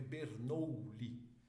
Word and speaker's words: Bernoulli: Se escreve Bernoulli.